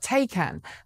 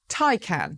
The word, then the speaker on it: Taycan: Well, for months now, I and many others in the industry have been calling it the Porsche Taycan. But apparently, according to Porsche, which released a new video this week teaching everyone how to say the name, it's Taycan.